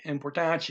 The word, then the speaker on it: importante: Okay, that even more important, importante, there's that T-E ending, chi, importante, important, than, the word than is two words put together, do, ki.